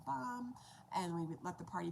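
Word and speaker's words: bam: for starting this out the first sound is b-a-m which is pronounced bomb and so we do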